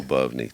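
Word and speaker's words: Lyubovny: Labni. Labni. Labavni. Well, I don't know why I thought you had four syllables in your last name. Lubny. Three. So, it's three.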